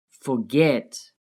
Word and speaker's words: forget: Notice how the last syllable is stressed, forget. get is stressed.